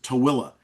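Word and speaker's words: Tooele: So t o e l e and the colloquial pronunciation of that is tilla. I don't do not know how you get tilla out of a t. You know, it looks like tuli and that's what people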